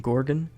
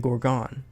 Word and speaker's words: Gorgon: of n humans terms previously I thought it was Attila and Gordon but apparently it's actually Adeline and Gorgon regardless what did you